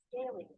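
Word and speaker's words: scalene: n e right okay let's hear about its pronunciation scaling scaling scaling can you hear it scaling scaling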